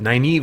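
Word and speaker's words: Nynaeve: read Moraine Lan naive it's spelled kind of naive but naive is how they say it naive eguain Perrin and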